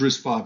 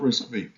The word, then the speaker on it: RISC-V: risk five history so it's pronounced risk 5 not risk v um it's an open